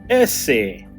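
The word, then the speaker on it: ese: And this one's pronounced S. Essay. And if you're a gangster, you say SA.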